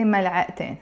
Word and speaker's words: ملعقتين: But in this case, because the word has a T مربوطة, ملعقة, it has a T مربوطة, but I don't pronounce it. But when I add the N, I will have to pronounce it. I say ملعقتين.